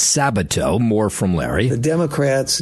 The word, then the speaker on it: Sabato: I butchered Larry's name. It's Sabato.